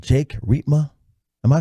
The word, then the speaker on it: Riepma: I said Jake Riepma. Am I saying it right? You got it. Nailed it. Used to be known as the Grim Reaper. That's how you remember how to pronounce it.